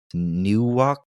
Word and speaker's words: Nieuwkoop: Eyck was born on August 13th, 1941, in a western municipality that I can't even begin to pronounce. Nieuwkoop.